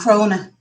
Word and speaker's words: Crona: Crona. That's how you pronounce that lady's name.